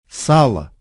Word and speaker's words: сало: And it's the same with this word. сало, So, how do we